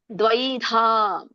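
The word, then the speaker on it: ದ್ವೈಧಾ: ಹಾಗಾಗಿ ಚಿನ್ನ ನಕೆ ನವತ್ತು ದ್ವೈದ ದಕ್ಕೆ ವತ್ತಿದೆ ಐವತ್ತಿ ಇದೆ ದ್ವೈದ ದ್ವ ಕೇಳಬೇಕು ಐಯು ಕೇಳಿಸಬೇಕು ದ್ವೈದ ಯತಾತ್ಮಾನಹ ಸರ್ವ ಭೂತ ಹಿತೇರತಾಹ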